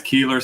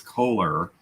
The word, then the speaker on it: Keeler: um and you guys keeler spelled like this so a lot of people think it's kohler it's not a toilet no but a lot